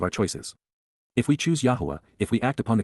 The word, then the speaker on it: Yahowah: And, YAHOWAH, the proper pronunciation of the name of Eloah, God as